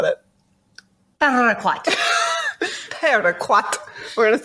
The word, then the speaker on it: Paraquat: We're gonna roll those R's. Paraquat. Join us. Okay, so what is paraquat?